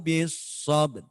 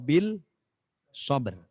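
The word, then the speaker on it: بالصبر: Makanya bacanya watawassaw bis sabr. Bukan watawassaw bil sabr.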